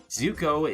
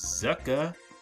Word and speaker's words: Zuko: Zuko is Zuka.